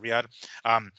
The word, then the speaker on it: Riyadh: That's how you pronounce it, Riyadh.